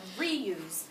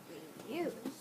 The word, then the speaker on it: reuse: Where does my accent go? Still there. Or still. On the re. So reuse. No. No. At the end. Reuse.